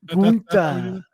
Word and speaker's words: Gunther: I'm like, okay, so even in a galaxy far, far away, the name Gunther needs to be pronounced with that overwhelmingly like Swedish chef accent. Really? Yeah. Gunther.